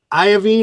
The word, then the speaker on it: Iovine: around i believe the legend is that jimmy iovine am i saying it right yeah he listened